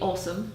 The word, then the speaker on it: Åsa: So it would be, the pronunciation would be awesome.